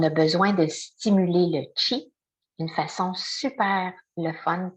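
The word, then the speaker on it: qi: en chikong, en tachi, on appelle ça le chi. Donc q i qui se prononce, c'est notre énergie.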